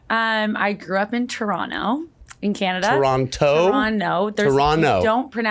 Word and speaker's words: Toronto: I grew up in Toronto in Canada Toronto Toronto there ton you don't pronounce the second T okay why I put